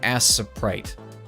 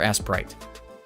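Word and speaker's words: Aseprite: way i've been saying i feel like i've been saying it wrong for how who goodness knows how long like it's like a s e p r i t it's like aciprite or asprite but i thought for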